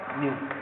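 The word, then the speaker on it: ν: इसको अपन लिखते हैं न्यू से, इस तरह का साइन होता है, इसको प्रोनाउंस क्या करते हैं अपन? न्यू, ठीक है।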